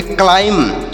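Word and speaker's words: climb: यम से म होगा यहां पर बी साइलेंट यानी बी का उच्चारण नहीं किया जाएगा इसे पढ़ेंगे क्लाइम क्लाइम नहीं पढ़ना है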